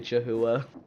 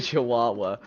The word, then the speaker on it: Chihuahua: TTS doesn't know how to say Chahooa. I clearly didn't know how to say it either. Chihuahua.